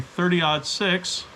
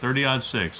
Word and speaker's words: .30-06: you'll say 308 and if it's a 30 odd 6 that's how you say it 30 odd 6. it's actually written 0.30-06 but because it was developed back in 1906 the odd years as they call them a u g h t or o-u-g-h-t that's